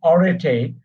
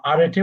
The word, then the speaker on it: arete: এখানে একটা শব্দ দেখতে পাচ্ছেন অনেকগুলো, বলছে একটা ওয়ার্ড ARETE, উচ্চারণ অরেটে বা আরেটে বলতে পারেন, কিন্তু অরেটে উচ্চারণ, অরেটে 6টা অরেটে আছে এখানে।